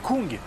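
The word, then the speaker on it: Küng: C'est Kung. C'est Kung, parce que là, il y a un tréma.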